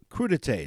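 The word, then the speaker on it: crudités: chomp on those into what crudites is how it's pronounced oh boy cuda taste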